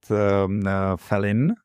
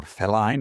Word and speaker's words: Feline: focus on women health, it will be called Felin or Feline is the right English pronunciation.